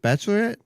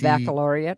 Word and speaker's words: baccalaureate: Is it is it just bachelorette? BACC. Baccalaureate. Baccalaureate.